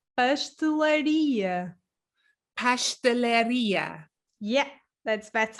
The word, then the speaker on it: pastelaria: and my subscribers are telling me that i pronounce uh uh pastelleria uh incorrectly yeah please for all of my